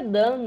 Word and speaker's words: Dawn: É, eu acho que é Dan, né? Horizon Zero Dawn. Dan. Zero Dawn. Aí saiu. Não, é Dawn, mesmo.